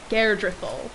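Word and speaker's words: Geirdriful: to do it i will cleave the skulls garedrethel that's how she pronounces her name i was getting it wrong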